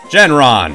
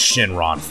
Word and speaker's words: Shenron: you we're calling you genron after the dragon from actually I think it's pronounced Shenron well I that one up anyway uh yeah I